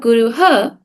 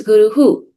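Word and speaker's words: गुरुः: The visa is not pronounced a everywhere. Like if you see a word guru with a visa, it's not guru ha, it's guru who because the visa uh echo echoes the last vowel sound that is made in the word.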